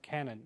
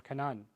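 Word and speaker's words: كنعان: Yusuf alayhi salam begins his journey outside of Egypt in the land of Canaan or Canaan. And from Canaan, that's how it's pronounced in Arabic, from Canaan, he is able to move his family into Egypt.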